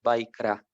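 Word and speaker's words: Vayikra: Por eso en el hebreo, digamos, el nombre del libro Levítico se puede pronunciar como Vaikra, es el nombre en hebreo, ¿no?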